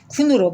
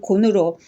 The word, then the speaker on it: 鯀: 다시 설명을 드린다면 곤을 중국과 일본국의 발음으로는 쿤으로 발음이 됩니다.